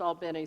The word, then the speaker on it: Albany: al Beni in Georgia Albany is pronounced Albany so just when you go down there not to give yourself away you should never say Albany if you're in Albany Georgia but she said that